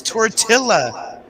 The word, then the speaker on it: tortilla: tiller i like messing with much it's tortilla still nobody here has come up with what